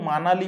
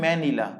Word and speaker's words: ম্যানিলা: ফিলিপিনসের ম্যানিলা ফিলিপিনসের ম্যানিলা কেউ মানালি পড়বে না এটাকে অনেকে কিন্তু মানালি পড়ে ভুল বাই মিস্টেক হিসেবে উচ্চারণ কি হবে ম্যানিলা তো অ্যানসার দেখো কি